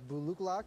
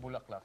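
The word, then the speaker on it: bò lúc lắc: That is our buluklak. It's our shaking beef, and that's from Vietnam. Say that again? Buluklak. That's not bulaklak, is it? No. I used to pronounce it that way, too, when we first introduced it.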